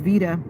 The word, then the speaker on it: Veda: that would help me my name is Vita not beta but I understand what you may have been taught in school but my mommy calls me Vita so that's my name